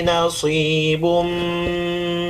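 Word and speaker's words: نَصِيبٌ: Ini si, bukan cs, tapi si, sod.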